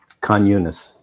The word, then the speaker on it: Khan Yunis: How do you pronounce that city? Khan Yunis. Khan Yunis.